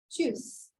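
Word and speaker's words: Tschüss: this by I think juice it's like tea is silent choose okay so over here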